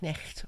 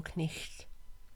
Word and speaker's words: knight: It was once used in Middle English for words which nowadays end in GHT, like knight, which was originally pronounced knecht or knicht.